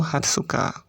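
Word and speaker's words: 二十日: 15 Jugo Nichi, 16 Joroku Nichi, kemudian 17 Jushichi Nichi, kemudian 18 Juhachi Nichi, 19 Juku Nichi, dan untuk 20 agak berbeda atau khusus yaitu Hatsuka.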